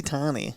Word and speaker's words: Tonne: you say your last name tommy bonzi tony i like it a little french to it